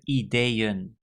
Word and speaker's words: ideeën: Ik heb meerdere ideeën. So again, there's a double E at the end, and the emphasis is on that part of the word.